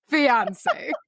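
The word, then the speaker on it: fiancé: Both words are pronounced alike. Fiance.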